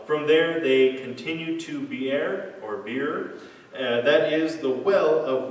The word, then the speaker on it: Beer: Now this place called Beer, or Beer if you want to pronounce it wrong, it means well.